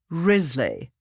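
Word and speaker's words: Wriothesley: candidates candidate number one is risley note the silent w henry third earl of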